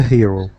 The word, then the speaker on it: hero: hero we say a hero right a hero because the H is pronounced okay so again you